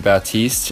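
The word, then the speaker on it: Baptiste: pronounce his name right I know that you pronounce his name batiste and the P is completely silent but I still mess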